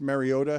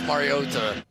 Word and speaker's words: Mariota: How do you guys say Marcus Mariota?